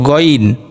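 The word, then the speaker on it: غ: মূলত এটা শুদ্ধ না শুদ্ধ হচ্ছে গাইন গাইন আর আমরা অনেক সময় পড়ি হা এরকম পড়ি খা না খা যখন মুখের মধ্যে গলায় কফ আটকালে খত করি ওরকম করে একটু উচ্চারণ করতে হবে হবে যাতে করে হলকের শেষ অংশ যেই জায়গাটা ওখানে একটু وائبব্রেশনের মত হয় একটু কাঁপে আমরা হাত দিলে দেখতে পারবো উচ্চারণ সময় ওখানে একটু কাঁপছে হলকের শেষ হইতেন খাইন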